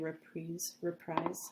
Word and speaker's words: reprise: It's actually a reprise. How do you pronounce it?